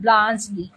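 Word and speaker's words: Bluntschli: এবারে আসি প্রথম নেক্সট ইম্পর্টেন্ট ক্যারেক্টার বলতে পারো, এটা এটা হচ্ছে ব্লান্সলি।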